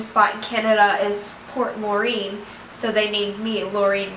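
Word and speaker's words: Loring: It is pronounced Laureen. It's L-O-R-I-N-G.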